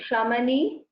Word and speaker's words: शमनी: Can you try saying Shamani? Shamani. Now you are actually pronouncing the Shakara very correctly. But when you are telling it together, the Cha is sounding like Sa. So, Nishkrodha Krodha Shamani.